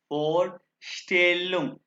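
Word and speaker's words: Vorstellung: अच्छा, अब हम पढ़ेंगे फोस्टेलो, एस टी जहां भी आएगा श की आवाज निकालेगा, फोस्टेलुम यानी इंट्रोडक्शन हम पढ़ेंगे, ठीक है, स्टील फोस्टेलुम इंट्रोडक्शन, ठीक है जी।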